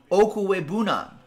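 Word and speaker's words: Okwuegbunam: Albert's name pronounced Okwe Bunam. Okwe Bunam. All right. I'll practice that every morning. Okwe Bunam.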